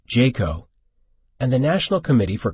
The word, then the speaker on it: JCAHO: of hospital organizations also referred to as JCAHO pronounced Jayco and the National Committee for Quality Assurance often